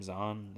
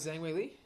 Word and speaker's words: Zhang Weili: Is that how you pronounce her last name? Zahn? Zan? Is the H silent? No, Zhang Weili. Yeah. No, this is Zhang Weili.